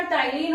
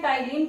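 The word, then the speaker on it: ptyalin: दूसरा कौन सा, टाइलिन होगा, यहाँ पे पी साइलेंट रहता है, तो इसको हम लोग क्या पढ़ते हैं, टाइलिन पढ़ेंगे।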